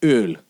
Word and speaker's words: Öl: It's like how the German word for oil is, and I actually have to make an effort to pronounce that word correctly instead of saying oil. But it's spelled umlaut O, L. 2 letters, umlaut O and L, and it's Öl, right?